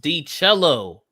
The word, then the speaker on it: D Cello: He says my screen name is pronounced D Cello. Oh, cello, like a cello.